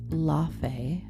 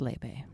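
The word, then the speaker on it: Laufey: I'm going to see Lebe and it looks like Laf. But the kids literally the kids because I'm taking my niece tell me it's pronounced Lebe.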